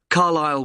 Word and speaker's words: Carlisle: 45 Carlile Way. Could you spell Carlilele for me? Sorry. It's C A R L I S L E. You don't pronounce the S. Carile way.